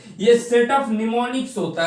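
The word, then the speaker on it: mnemonics: इन शांबल्स तो हम निमोनिक्स पड़ते हैं अब इसे हम निमोनिक्स बोलते हैं यहां पर मैं साइलेंट रहता है लेवल लैंग्वेज को कन्वर्ट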